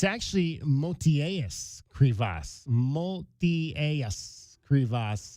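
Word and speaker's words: Motiejus Krivas: Multias Creas is how you pronounce his full name.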